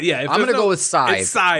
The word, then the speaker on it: Scythe: maybe a different pronunciation i believe scythe is size i think that's also